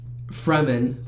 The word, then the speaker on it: Fremen: he had blue eyes because he's with the Fremen.